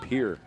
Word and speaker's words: Pierre: took out number three pier or how it's pronounced correctly Pierre Heidi H also coming